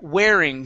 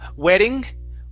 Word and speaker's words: wearing: Next up is the word wearing. Give me a good R here instead of wedding.